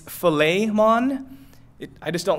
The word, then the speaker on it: Philemon: pronounce it correctly like according to how they're supposed to pronounce it in the Greek its filet Mon I just don't like